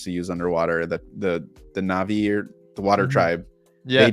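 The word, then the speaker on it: Na'vi: They filmed for the characters, the Navi people, or however you pronounce that. Yeah, it is Navi.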